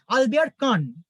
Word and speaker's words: Albert Kahn: the delightful house of Albert Kahn at Cap Martin, French উচ্চারণে কাপ মার্তা, আর French উচ্চারণে এই ভদ্রলোকের নাম হচ্ছে আলবেয়ার কান।